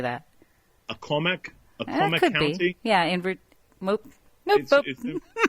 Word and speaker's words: Accomack: Accomack could County? Be. Yeah, Nope. Go ahead. No, I think it's Accomack, Accomack. Right. Accomack. Right. That's the way I would have pronounced it.